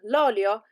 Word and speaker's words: olio: In the first one, the accent is on the end, so lo zio, but l'olio has the accent at the beginning.